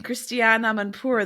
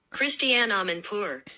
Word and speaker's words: Christiane Amanpour: Well, you were mispronouncing Christiane Amanpour the whole time.